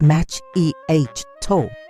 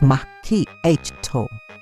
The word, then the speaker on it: macchiato: And macchiato is not match eh toe. It's mi h toe.